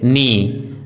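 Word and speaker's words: knee: यदि किसी वर्ड में के एन साथ में हो तो के का उच्चारण साइलेंट होता है जैसे नी नोब नाइफ नो नाइट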